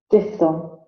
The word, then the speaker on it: diphthong: डिप्थंग। डिप्थंग। इसी का American pronunciation भी सुन लीजिए।